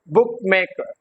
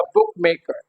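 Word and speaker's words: bookmaker: sport beauty sport okay like wise बुक मेकर बुक पे क्या आएगा हमारा स्प्रेस आएगा बुक मेकर बुक मेकर okay so बुक would be esterase the seventh rule is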